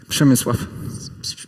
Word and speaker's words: Przemysław: Was it pronounced good? Przemysław.